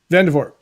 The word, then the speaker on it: Vandervoort: You don't pronounce the T. Vandervoort has a program called Vision Journaling Live.